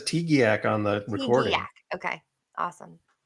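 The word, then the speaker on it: TGIAC: T-G-I-A-C? I think Hubbard says Tegiac on the recording.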